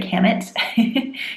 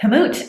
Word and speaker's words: kamut: For our selenium winners, we have kamut, which I always just want to say kamut. That's how I've always read it until I looked up pronunciation. But kamut at 88% and farro at 80% selenium and 200 calories.